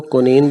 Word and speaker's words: quinine: कुनीन, कुनीन को कुनीन बोलेंगे। कुनीन, कुनीन की स्पेलिंग QUININE के साथ।